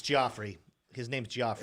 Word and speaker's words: Joffrey: It's Joffrey. His name's Joffrey. It's now. Jeffrey okay.